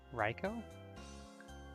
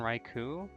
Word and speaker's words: Raikou: Actually, I guess that Pokemon would be pronounced Raiko, wouldn't it? What's Koishi doing here? I mean, I guess she's probably everywhere and you just don't notice, but... I always pronounce that Pokemon Raikou, but I have since learned that OU is often pronounced just like O, at least in Japanese. Avenge.